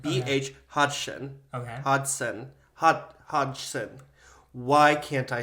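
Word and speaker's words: Hodgson: 20th century In 1832 British Explorer b h Hodson hod hoden I'm trying to say it right BH hoden okay Hodson hod Hodson why can't I say this h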